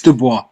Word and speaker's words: Dubois: people in the northeast calling them dubois it's dubois it's the boy yeah it's french does it